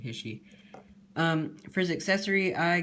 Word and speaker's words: HISHE: should have ended um or hisy or his he I pronounced it hisy um for his accessory